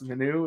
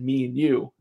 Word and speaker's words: Minou: of went for it looks like it's pronounced in the new and then uh in madawaska she was like no i said me and you and it was like